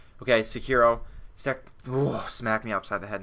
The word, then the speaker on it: Sekiro: into saying it correctly, you just say it like a hardcore samurai every time. Sekiro. Okay. I got too into it there. And just say the R is a D. The R is a D. Sekiro.